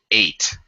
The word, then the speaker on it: ate: I mean, I cooked my food and at or ate? Oh, 8. Sounds 8. just like the number 8.